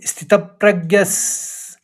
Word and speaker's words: स्थितप्रज्ञस्: तो पहले आघात में तो के ऊपर आघात है तो स्थितप, फिर प्रग, 2 ग का आएगा, प्रज्ञ, फिर यस, तो स्थितप्रज्ञस तदोच्यते।